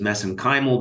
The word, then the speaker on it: mesenchymal: And of course, you study MSC stem cells, which I pronounce as mesenchymal because that's how they pronounce it in Ireland.